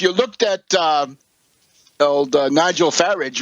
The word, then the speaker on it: Farage: If you looked at old Nigel Farage, rhymes with garbage, at the beginning of the evening, he said, "Oh, I think we probably lost.